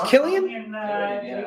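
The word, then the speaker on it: Cillian: silly and Murphy Tony backs me up it's Killian Killian Murphy yeah I don't know dude you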